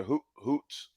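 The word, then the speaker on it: Ouzts: like it um yeah Hoots Hoots it's like o-u-z-t-s with the Z is silent I like it he's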